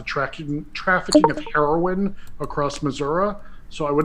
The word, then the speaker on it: Missouri: corrected my speech and told me it's pronounced Missouri in these parts and I was